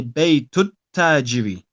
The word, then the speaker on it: بيت التاجر: So we want to pronounce them together. Okay. And the ta is a sun letter. So we say Baytut tajiri.